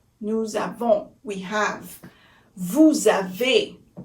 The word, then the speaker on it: vous avez: Vous avez. Vous avez.